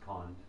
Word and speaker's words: Kunda: The Orissan pronunciation is Kond, but the name is spelled Kunda, so I'll just use that term, Kunda.